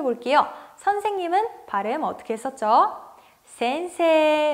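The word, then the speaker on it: せんせい: 선생님은 바램 어떻게 썼죠 센세 라고 길게 발음 했어요 선생님이다 센세 에다 선생님이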